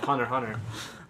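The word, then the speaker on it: Hunter × Hunter: what are you talking Hunter Hunter those have two repeating words go ahead well is I thought you don't pronounce the X kill the hunter no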